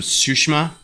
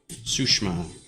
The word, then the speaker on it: Tsushima: I did realize that there's certain ways to phrase, it's not Ghost of Tsushima, it's Ghost of Tsushima. You don't say the long I in that. It's almost missing from that.